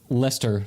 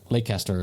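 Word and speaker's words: Leicester: have lived in England where they say you know Lester for something that is clearly like lay caster or whatever it looks like it's pronounced yeah likes mimics what like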